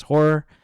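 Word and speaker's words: HO99O9: We Escape by Horror, spelled HO9909, but pronounced as Horror.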